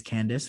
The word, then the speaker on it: Candace: I know it's Candace for sure, and that is correct.